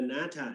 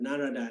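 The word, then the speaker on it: Nārada: The Natha is mean Thai pronunciation, but Narada in Bali.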